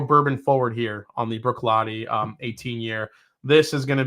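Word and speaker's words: Bruichladdich: Brooklottich. It looks like Brooklottich, but it's actually pronounced Brooklotti.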